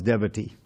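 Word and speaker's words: deity: till contact with god's devity I pronounce it that way because it rhymes with brevity and it says even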